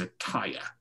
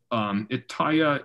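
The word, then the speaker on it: Etteilla: a problem here is Ataya. Is I believe how you pronounce that, though there's not really a correct way to pronounce it because his name is just backwards. Ataya is a play on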